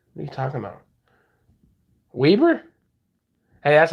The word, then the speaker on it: Weber: arizona iced tea what are you talking about weber hey that's how we pronounce it out here in utah weber state